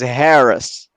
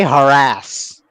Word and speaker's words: harass: So in British English, the word is Harris. And then Americans got a hold of the language and they were like, no, no, no, sister. We say harass.